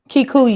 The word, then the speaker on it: Kikuyu: Kikuyu.